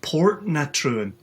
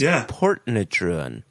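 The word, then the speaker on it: Portintruan: It's spelled Portintruin, and it's pronounced Portnatruin. Oh yeah, Portentruan, but it's pronounced Portnatruan.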